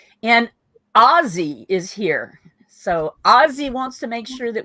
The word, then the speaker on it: Ozzy: So Ozzy wants to make sure that we pronounce their name correctly. It should be Ozzy. Hard Z, he says.